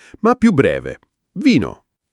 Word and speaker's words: vino: Vino. Vino. Non vinou come in inglese, ma più breve. Vino.